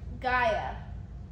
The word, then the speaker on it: Gaia: not Dino it's not how do you spell it so you say like a i a so g-a-i-a g i g i g g a g